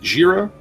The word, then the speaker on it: Jira: Is it Jira? Is that how I pronounce it? Yeah.